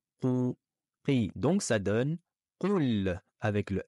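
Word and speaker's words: قل: Ne dites pas Kul, Kou, avec un kef, ke, Kul. Mais c'est Qul. Prononcez bien au fond de la gorge.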